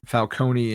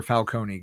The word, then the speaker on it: Falcone: you a Falonee or Falcone guy? I think it's I like Falcone. Um that to me sounds more like oldw world Italian to like pronounce the vowel at the end.